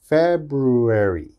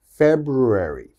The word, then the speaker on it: February: focus on the f this is an f sound your teeth should touch your lip and this is a b sound okay so we should think of this as fat fat brew brew fair brew erie fer brewery february february february okay it's very difficult february february so it